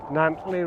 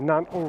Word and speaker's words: Nantlle: today we're backpacking along the nantli ridge or is in nantel ridge whichever way you want to pronounce it but i'm going to